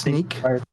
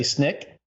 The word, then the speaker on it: Snyk: pron okay it's pronounced sneak SNY snyk is pronounced yeah sneak the natural thing is to say Snick you know like the sound that claws make when they come out